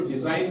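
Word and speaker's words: design: भी ये साइलेंट रहा इस दूसरे वर्ड में डीई एस आई जी है इसको क्या पढ़ते हैं हम इसको डिजाइन पढ़ते हैं क्या पढ़ते हैं न डिजाइन पढ़ते है ठीक है यहां भी जी साइलेंट रहता है क्यों साइलेंट रहता है क्योंकि जी ए से पहले आया है ठीक है समझ आ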